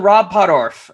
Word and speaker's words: Rob Pottorf: the composer for danger rangers ladies and gentlemen rob poddorf i hope i'm pronouncing that right you're that's you get bonus